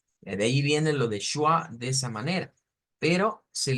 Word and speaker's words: schwa: Pero de ahí viene más o menos la idea, de que suena como una SH, pero con una C en medio, una W y una A. Schwa.